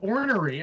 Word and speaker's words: ornery: let's say let's say ask your mom what ornery means but you can't pronounce it ordinary you pronounce it's like something else similar more like let's